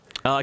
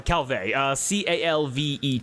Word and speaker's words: Calvet: Commander Calvea? Calvé, Calvet, with a silent T at the end.